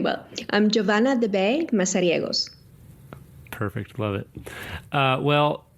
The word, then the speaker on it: Giovanna de Beij: your full name my full name well I'm joavan de MOS perfect love it uh well well how long